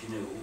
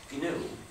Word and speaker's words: GNU: But it still is GNU, and it always will be GNU, no matter how many people pronounce it Linux by mistake. So please pronounce a hard G.